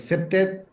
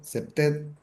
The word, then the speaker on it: CPTED: que son eh, el CEPTED, que es una herramienta de gestión del ambiente para la prevención del delito. Se escribe CPTED, CEPTED.